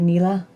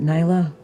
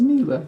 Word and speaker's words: Nila: pub soul no would you happen to be nila or is it nayla am i pronouncing that right it was neela who's neela mila you had it right the first time nailed it i